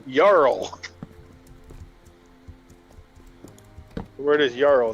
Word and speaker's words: jarl: killed me is in Skyrim they call them jarls I mean that's not how you pronounce it man it's yarl the word is yarrow not jarrow which is